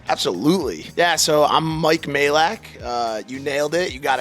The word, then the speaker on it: Majlak: of intro yourself absolutely yeah so I'm Mike Malik you nailed it you got it right and a lot of people have butchered that name over the years so that